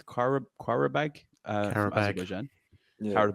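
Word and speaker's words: Qarabağ: So the first team we got drawn up against is a hard one to pronounce, but I think it's Qarabag from Azerbaijan. Yeah. Coming Qarabag.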